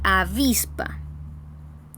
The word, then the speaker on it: avispa: Reconocemos entonces la carga de voz, o sea, la sílaba tónica, aquella sílaba que recibe la mayor carga de voz. Reconocemos que está en la penúltima sílaba y vamos a ver